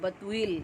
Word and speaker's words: بتویل: یہ ہے اس کا جو ہے وہ بے تے واو اور حمزہ یہ لام بتویل، اس کو تلفظ اس کا ہے.